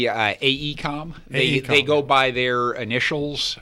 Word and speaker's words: AECOM: It's a project by a company called AECO, if I'm pronouncing that right? It's actually AECOM.